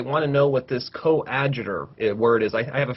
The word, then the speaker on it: coadjutor: It was coadjutor. That's how they pronounce it.